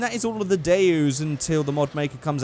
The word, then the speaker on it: Daewoo: Um but yeah, it's pronounced Daewoo, so I say Daewoo.